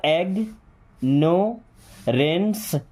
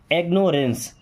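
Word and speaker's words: ignorance: Then I जी को एग पढ़ते हैं, क्या एग नो रेंस, एग्नोरेंस क्या पढ़ते हैं, एग्नोरेंस।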